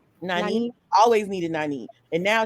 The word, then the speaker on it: Nynaeve: Nynaeve.